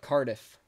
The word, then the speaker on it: Cardiff: Cardiff. Cardiff. Cardiff, Wales. I said Pardif.